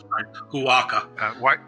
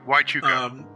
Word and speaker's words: Huachuca: He also attended the Army Intelligence Officers Basic Course at Fort Huachuca. I hope I pronounced that correctly, Arizona. Huaca. Huachuca.